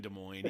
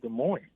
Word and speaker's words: Des Moines: nervous i don't know he grew up in des moines he probably won't wow i was on a call with somebody today and they they said des moines i said are you kidding me it's des moines yes des moines that oh i don't know